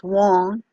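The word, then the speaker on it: Weng: So Wong will be the area of the head, the sound Wong, W-E-N-G, that's pronounced Wong.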